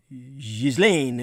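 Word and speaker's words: Ghislaine: in which she was brought up juwil uh zizlane was the youngest of nine children on frankifying the pronunciation because that's the real pronunciation her father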